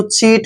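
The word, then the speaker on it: chew: ई डब् को देखिए यहां पर यू का उच्चारण करेंगे चू ऐसे चू चू मींस क्या होता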